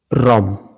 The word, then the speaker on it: Rom: Rom. Hã? Rom. Exato. Rom. Se escreve R O M.